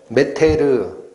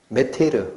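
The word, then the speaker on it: μήτηρ: 그게 헬라어로 메테르, 마더랑 발음 비슷하죠. 메테르, 그게 어머니예요.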